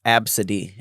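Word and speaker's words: Abcde: Absidy, and you spell it A-B-C-D-E.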